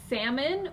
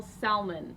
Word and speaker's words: salmon: Okay, but I would like, we've asked before, comment, do you say salmon or do you pronounce the L salmon?